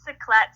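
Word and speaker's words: Cyclettes: it about uh well I pronounce it ciclet sort of like BC clat so it is inspired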